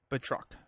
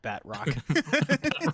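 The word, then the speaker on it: Batroc: uh he's French villain theory has the right pronunciation can you say it one more time for me uh betro betrock okay that sounds way cooler than bat rockat Rock the Batman spinoff yeah right he's a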